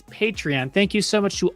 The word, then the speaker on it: Patreon: we are on patreon that's how you say it you say it like that it's patreon thank you so much